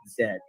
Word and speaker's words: Z: driver of her mg zs alpha yeah that's how you say it because it's a british brand so we don't say z we say zed all right and uh